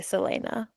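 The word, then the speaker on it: Celaena: with the audiobook and they say Selena. Ooh, okay, I guessed it right. I guessed it right. I was like, it's like Selena, but with an A, like Selena.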